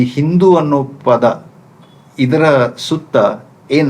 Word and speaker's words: ಹಿಂದೂ: ಸಿಂಧು ನದಿ ತೀರಕ್ಕೆ ಬಂದರಂತೆ ಅಲ್ಲಿ ಇದ್ದ ಜನಗಳು ಆ ನದಿಯನ್ನ ಕುರಿತು ಸಿಂಧು ಸಿಂಧು ಅಂತ ಉಚ್ಚಾರಣೆ ಮಾಡ್ತಾ ಇದ್ರು ಬಂದು ಪರ್ಷಿಯನರಿಗೆ ಸ ಇದೆಯಲ್ಲ ಅದನ್ನ ಉಚ್ಚಾರಣೆ ಮಾಡಲಿಕ್ಕೆ ಆಗಲಿಲ್ಲ ಅವರಿಗೆ ಸ ಉಚ್ಚಾರಣೆ ಮಾಡಲಿಕ್ಕೆ ಆಗದೇನೆ ಅವರ ಅದನ್ನ ಹ ಅಂತ ಕಿವಿ ಕೇಳಿಸಿಕೊಂಡುಬಿಟ್ರು ಆ ಪರ್ಷಿಯನ್ರು ಅವರು ಅದನ್ನ ಹಿಂದೂ ಅಂತ ಉಚ್ಚಾರಣೆ ಮಾಡಿದ್ರು ಇಲ್ಲಿ ಮೂಲ ನಿವಾಸಿಗಳು ಸಿಂಧೂ